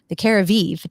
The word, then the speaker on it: Jacobi: I do need to take advantage of the Jacobi treatment, right? That's how you pronounce it, right?